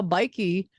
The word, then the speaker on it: BIKE: do you pronounce it bike bike yeah yeah generally in Brazil we have a little accent so like a bike but it's bike like I pronounce it like a Brazilian it's a bikey you're the only Brazilian